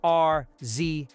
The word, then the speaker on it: RZA: research something real quick okay apparently the name is spelled r Za a but it's pronounced RZA so let me introduce you to RZA one